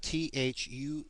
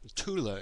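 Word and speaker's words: Thule: and and that's spelled t hu l e it's usually mispronounced THU by people in this country but it's pronounced Tula in German uh Tula gazelle shaft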